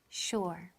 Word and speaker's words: sure: To be sure. To be sure. Estar seguro. Sure suena como si tuviera una H después de la S.